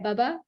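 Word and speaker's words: Buba: All right, so it's pronounced the same way, right? Bubba, Sleepy Bubba. Yep. Not Bubba, because it's B-U-B-A, so it's Sleepy Bubba.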